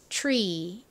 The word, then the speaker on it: tree: 단어는 발음이 어떻게 되나요 한국 트리라고 표기하지 실제 발음은에 살짝 치시 가면 돼서 tre Tree 이렇게 소리가납니다 뒤에이가 좀 길게이 소리가 나죠 Tree의